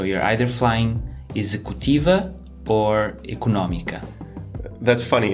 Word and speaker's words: económica: So you're either flying "executiva" or "económica". That's funny. In English we stress the ec-O-nomy part, but you guys stress the other syllable. Eco-nÓ-mica. You stress the syllable with the accent.